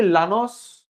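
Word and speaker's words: Llanos: कैन यू सी लानोस? आपको लानोस दिख रहा है? प्लीज बताइए। आर you winding लानोस? I silent है वहां पे।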